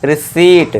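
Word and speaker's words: receipt: तो इसे क्या पढ़ेंगे हम, रिसीट, ठीक है दोस्तों। चलिए फिर नेक्स्ट देखिए 12th एग्जाम्पल, यानी कि आर का साइलेंट रोल।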